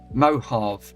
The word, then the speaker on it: Mojave: It's pronounced Mohave.